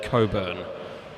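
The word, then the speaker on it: Cockburn: is Finn Carpenter from Coburn BMX Club. It's spelled C O C K B U R N, but I've been reliably informed by people living in Perth that it's pronounced Coburn.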